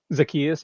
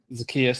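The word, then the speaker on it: Zaccheaus: I believe it's pronounced Zius. Zakius. Yep. Zakius.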